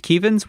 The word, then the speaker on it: Kevin: before us yeah it's it's spelled Kevin pronounced kevans we are not making